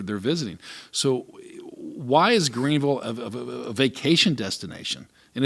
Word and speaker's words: Greenville: into town was always called called Greensville they would always mispronounce it you notice that too and that was Greenville and then when I